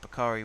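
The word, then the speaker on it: Bukayo Saka: as well all right bakari with the throw is it bakari or bakery i'm gonna say bakari like bukhari saka or is it back no it's bakery sakura isn't it potato potato i don't think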